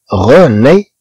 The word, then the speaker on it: René: Par exemple, René. عندنا E accent. Aigu تنطق A. مع N تنطق ني. René. غي. ري.